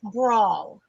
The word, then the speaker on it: bransle: Bransle is pronounced brawl.